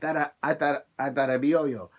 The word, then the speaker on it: Adarabioyo: Adarabioyo.